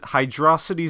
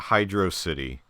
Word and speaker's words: Hydrocity: Imakuni would tell you that it rhymes with atrocity.